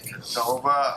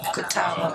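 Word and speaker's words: Catawba: He is uh tuning in from the I'm gonna say it wrong, but the Kova Islands. Kataba.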